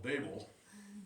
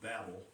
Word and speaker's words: Babel: A little town called Babel. Some of you, it's often pronounced Babel, but it's only got one B in it.